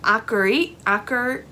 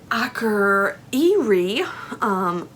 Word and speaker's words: Akureyri: Then you have a day in, oh, my Iceland is just as bad as my Norwegian, in Akureyri. There's a Y in there, but the Y's aren't pronounced in Norwegian, something like that.